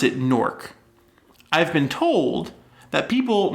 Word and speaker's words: Newark: new york but like newark you have a much stronger e in there than i do i say nork almost like n-o-a-r-k listeners let us know